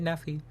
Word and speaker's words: Nephi: I agree to kill driver Nephi, or Nephi. He pronounces it Nephi, but I enlist the help of First Recon to do so.